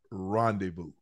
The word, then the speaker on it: rendezvous: Rail and Ocho had a secret rendezvous. The word is rendezvous. Rendezvous. R-E-N-D-E-V-O-U-S. V-O-U-S. No. Whoa. Wait. Rendezvous. Stay with me, babe. Stay with me now. R-E-N-D-E-V-O-U-S. That's rendezvous. No. R-E-R-E-N-D-E-Z-V-O-U-S. The Z is silent.